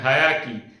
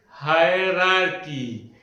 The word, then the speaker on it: hierarchy: Most of the time I have seen people saying that hierarchy. No, it is not hierarchy. But the correct pronunciation is hierarchy. 2 R are there in between. So the correct pronunciation is hierarchy, not hierarchy.